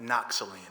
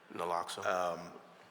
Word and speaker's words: naloxone: We know that Noxaline, am I saying it right? I usually say Narcan. Naloxone?